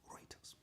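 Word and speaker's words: Reuters: people according to please help me with the pronunciation writers okay writers according to writers Algeria is a very wealthy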